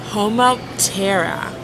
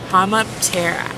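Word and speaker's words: Homoptera: flies and then cicadas the taxonomic name is homotera hammap Terra so what we how we spell it is h-o-m-o-p-t-e-r-a and then from there an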